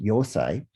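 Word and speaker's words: Eisai: several centuries later with aesai also sometimes pronounced yosai who was a zen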